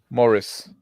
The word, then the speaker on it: Maurice: How do you say it? Maurice. Morris? Morris. Morris.